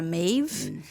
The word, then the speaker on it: Maeve: Você sabe que Maeve, inclusive, que a pronúncia correta seria Maeve, é um nome celta.